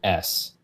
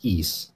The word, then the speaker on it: Ys: title of the game is just the letter Ys which is why we always pronounced it y's but it is in fact pronounced e just to clarify yeah um so you know